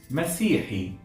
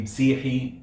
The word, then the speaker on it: مسيحي: By the way, even in Masry you'll find it sometimes pronounced faster. So to be Msihi, Sihiyya, Sihiyin, like that.